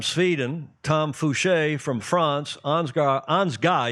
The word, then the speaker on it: Ansgar: Oscar Engstrom from Sweden, Tom Fouché from France, Ansgar, he doesn't pronounce the R, it's a German name, a German family living down in San Diego, Coronado Yacht Club.